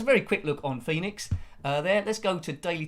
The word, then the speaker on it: Pheenix: If you're trying to track this one down, Pheenix is spelled in a slightly different way. It's P-H-E-E-N-I-X by Megadodo in 1983.